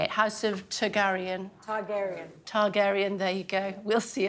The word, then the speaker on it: Targaryen: how to say it House of Taran Targaryen Targaryen there you go we'll see you at the